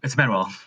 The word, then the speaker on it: Manuel: It's Manuel. It's backwards.